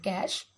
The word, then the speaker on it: cache: memory what is it a cast pronounced it cash is located inside or